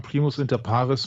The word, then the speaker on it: Primus inter pares: sense that he is Primus inparis oh boy more Latin help me out Michael what is that is that did I pronounce that correctly yeah yeah Primos inter parus means the first among